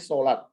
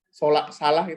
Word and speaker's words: salat: salat ini juga kan Ya harusnya kita bacanya salat bagaimana kita keep salak-salak kita dosa mengajarkan anak jacket harus memberitahu bahwa kalau salat berarti kita menggunakan bahasa kalau salak bahasa Indonesia ustadz-ustadzah Saleh Salehah halalbihalal